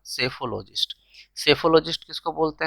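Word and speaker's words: psephologist: ठीक है, next, one who studies elections trends by means of opinion polls, उसको हम क्या बोलते हैं, सेफोलॉजिस्ट। पी साइलेंट रहेगा, सेफोलॉजिस्ट।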